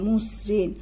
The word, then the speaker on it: মসৃণ: ময়ের সাথে একটা অ আছে, দন্তস্বয় ঋকার মূর্ধন্য মুসৃণ, তাহলে মসৃণ শব্দের উচ্চারণ হবে ঠিক এরকম ম কর্ম দন্তস্বয় হসন্ত দন্তস্বয় ঋকার দন্তন্য মসৃণ।